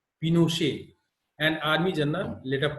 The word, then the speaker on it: Pinochet: General Augusto Pinochet pronounced Pinochet, an army general led a coup.